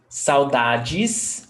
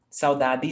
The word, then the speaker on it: saudades: or d yes yes how do i pronounce saudajis oh geez g in some other parts of brazil saudades dt sauda di city do i need to